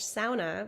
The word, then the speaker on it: sauna: the grid, with this traditional Finnish sauna, which is how you have to pronounce it, on the property, which was amazing.